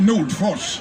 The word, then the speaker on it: Nordfors: do my best and my name is pronounced newt foss once a danish psychiatrist